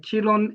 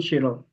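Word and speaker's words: Qiron: science behind this uh Chilon is not they pronounce as Chilon but the spelling is Qi Q I R O N then Shen Shen is S H E N so is professor Shen Shiron.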